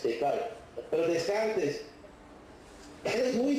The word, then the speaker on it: Descartes: En inglés se usa la pronuncia francesa, el francés, Descartes.